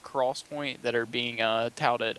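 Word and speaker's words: XPoint: called 3D this is in quotations 3D XO pronounced Cross Point that are being uh touted as the First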